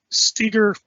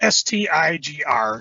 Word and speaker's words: Stigr: And then Stiger, it's Stigr, so you can pronounce it how you want, decides, you're not going anywhere, I'm going with you.